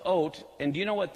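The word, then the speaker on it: אות: The Hebrew word for signs here is ot. It's the aleph, the yud, or the aleph, vav, and the tav is how it's spelled. It's ot.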